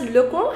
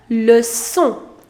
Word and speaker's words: leçon: So it is not pronounced as le con, however you pronounce it as leçon.